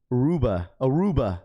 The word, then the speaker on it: Aruba: Aruba. That's how you say it.